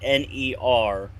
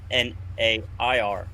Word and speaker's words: ner: started reading the books, I always thought N-E-R was ner. It wasn't until I got into the faith and found the text documents that I actually figured out is pronounced N-A-I-R, nair, Yeah. like the hair removal brand.